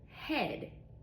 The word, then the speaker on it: head: So when they're together, for example, head. Head. I hear a E sound, right? Which is a short E. Head. But a gets no pronunciation.